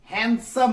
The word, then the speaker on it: handsome: ऐसे तो हैंडसम पढ़ाया जाएगा हिसाब से, लेकिन इसका एक्चुअल प्रोनाउंसिएशन जो है हैंडसम है। डी यहां साइलेंट रहता है।